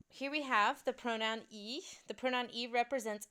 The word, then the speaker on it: y: French pronoun e so it looks like Y but it's pronounced e in French so this is going